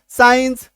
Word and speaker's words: science: जैसे एससी के बाद अगर ई आई वाई आ जाए तो उसके उच्चारण में दांत वाला सौ, सिंपल सौ आ जाएगा, है ना, यानी इसका उच्चारण क्या होगा, सिंपल वाला सौ।